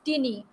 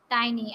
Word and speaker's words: tiny: by you like tiny i have seen people pronouncing it as tinny it is not tinny it is tiny and what is the